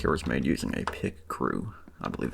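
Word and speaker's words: Picrew: I did not draw this rig, or, this little animatic here was made using a pick crew. I believe it's called I believe it's pronounced pick crew.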